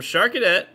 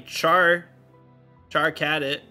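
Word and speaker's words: Charcadet: like oh thanks um sharket or apparently Char Char cadit is how they pronounce that's it uh coming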